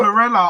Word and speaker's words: chlorella: But there's one minor problem with spirulina is that in I can't pronounce it. Moringa. Chlorella. Oh, Chlor- chlorella.